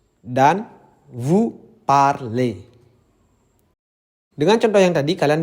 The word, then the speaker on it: parlez: Yang ketiga yang kalian perhatikan adalah vous parlez, ez. Yang cara bacanya adalah e, seperti ember.